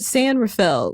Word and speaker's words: San Rafael: But San Rafael, did I say it right that time? Rafael. But San Rafael, which Meghan says that's how people in California pronounce it.